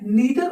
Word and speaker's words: neither: नीदर, next देखते हैं, नीदर ऑफ द candidate was selected, ठीक है। अब यहां पे आगे देखते हैं, फिर से यहां पे नीदर या नाइदर वी कैन से we pronounce it, neither of the candidate was selected.